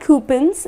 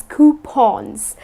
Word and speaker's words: coupon: Now, people tend to pronounce it as coupons, but it's not coupons, it's coupons. Okay, so it's something like this, coupon. So it rhymes with lawn or Sean.